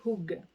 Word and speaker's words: hygge: vous la montre alors ça s'écrit id jeu mais ça se dit jung alors c'est u ça